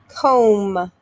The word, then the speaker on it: comb: the er sound wrench comb mb making the m sound silent b kneel k n silent